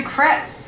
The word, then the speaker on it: crepe: Sex, lies, and video crepe. Sadako and the Thousand Paper Crepes. Great book. It's actually pronounced crepe.